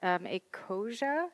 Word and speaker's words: Ecosia: Then we have Jessica Green, who is a developer at Ecosia. Is that how it's pronounced?